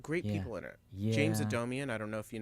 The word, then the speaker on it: Adomian: people it's got great people in it James Adomian I don't know if you know him I love a domain yeah Bernie Sanders yeah of course of course a domian am I saying that right odomian yeah Todd just saying it right yeah oh